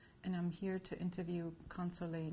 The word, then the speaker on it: Consolee: My name is Consolee. I can spell it Consolee.